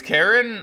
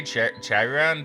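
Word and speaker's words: Charon: I think it's Karen. I think Karen. Karen is the way you I think you could say Chyon, too, but I think I think it's supposed to be pronounced Karen, funnily enough.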